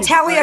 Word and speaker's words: Talia: How do you pronounce her name? Talia? Oh, Talia Shire.